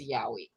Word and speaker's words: yowie: rocky place abolish the senate is trying it's pronounced is it yowie the the y-o-w-i-e is yowie yeah google it you'll find it yeah yowie